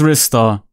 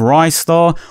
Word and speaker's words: Ristar: small cult fanbase and yes I'm pronouncing it as wrists are okay you know respect to you if you want to call him Rice thaw or restar or Joseph or whatever